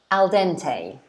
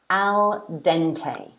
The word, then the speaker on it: al dente: We pronounce it al dente. Al dente.